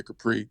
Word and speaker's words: Khepri: Yeah, Capri.